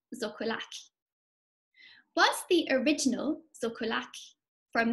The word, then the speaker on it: xocolatl: Here we have the Nahuatl word for chocolate, pronounced zocolac.